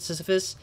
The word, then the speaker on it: Sisyphus: sh or shades um like syphilis or like sisyphus i think that's when you pronounce it sisyphus shadows are doomed to